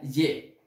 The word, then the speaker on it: J'ai: Se escribe hi, pero se pronuncia ye.